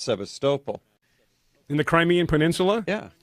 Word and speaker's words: Sevastopol: Peninsula there's a city called Sebastopol except is pronounced Sevastopol in the Crimean Peninsula yeah did you when